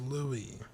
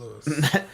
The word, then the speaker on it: Louie: on the patreon side lily bennett is pronounced louie not lewis louis max's geekdom just max